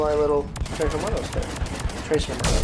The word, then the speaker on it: Tres Hermanos: Tres Hermanos, because y'all pronounce the S.